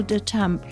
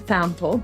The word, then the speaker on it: de Thample: My guest today is Damp. Now, have I pronounced it right? Well, in America, it's Dample, but um that's a bit of a Texas twang, which is where I'm from.